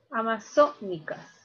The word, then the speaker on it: amazónicas: Amazónicas. Mira, la mayor fuerza de voz está en la sílaba so. Listo, 1, 2, 3. Ah, es esdrújula, ¿cierto?